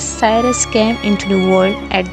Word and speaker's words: Cyrus: This boy, known as Kurush by all Persian pronunciation, but to us as Cyrus, came into the world at the royal palace of Ecbatana in 1600 BC.